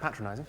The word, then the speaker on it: patronizing: he thought it was patronizing i said well i think you'll find that's pronounced patronizing it means when you